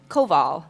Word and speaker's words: Koval: Koval. Koval. So like K-O- emphasis on both syllables.